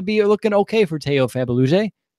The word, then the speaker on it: Fabuluje: I'm interested to see how you pronounce his name. Teo Fabuluje, right?